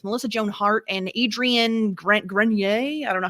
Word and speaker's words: Grenier: his last name, but I think it's pronounced Grenier, but I'm not. Of course it is, because I tried to do the French fancy kind, and that's not what it is.